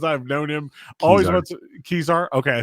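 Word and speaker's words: Kezar: NPSL final took took place in Khazar Stadium. Joshua Duter has talked about the stadium for as long as I've known him. Always want Kizar.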